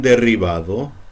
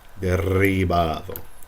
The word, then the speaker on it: derribado: You should roll your double R's, and you should roll the R's at the beginning of a name or a word, like Ricardo, Ricardo. Okay. Now this double R, like derribado.